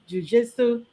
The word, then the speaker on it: jujitsu: Um, okay, with the how do you pronounce it? Jujitsu.